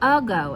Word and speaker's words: ago: We say ago, even though it's spelled ago.